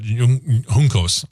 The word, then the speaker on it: Juncos: And again, this is just more more of a hint that Juncos, I need to make sure I get that proper because that's the proper pronunciation.